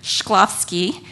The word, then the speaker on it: Shklovsky: that was coined by a man named victor shklovsky so for those of you who are tweeting that's spelled s h k l o v s